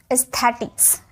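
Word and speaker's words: aesthetics: ठीक है, ई में किया जाता है AE का उच्चारण। जैसे AE आयन, तो इसे बोलेंगे एयन, इयन, इयन। ठीक है, EASTETHETICS, एस्थेटिक्स, एस्थेटिक्स, ई।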